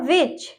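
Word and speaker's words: which: Next हमारा weather, weather, when और वो, वेयर, ओके, मतलब वेयर मतलब कहा, वेयर, वूम और विच, यहाँ पे भी एच है, ठीक है, तो ये एच साइलेंट रहेगा, डब्ल्यू के बाद एच है तो ये साइलेंट रहेगा, ये वाला एच हम पढ़ेंगे, ओके।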